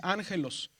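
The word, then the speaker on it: ἄγγελος: Aquí dice ángelos y está la alfa A, ángelos. Entonces ese símbolo dice que es espíritu suave.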